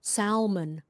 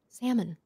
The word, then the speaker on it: salmon: you can say salmon by the way you don't pronounce the l a lot of people pronounce the l sound even to me i hear it all the time salmon like what like caramel